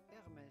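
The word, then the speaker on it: Hermès: will find at her Hermes is silent h at the beginning if you can't pronounce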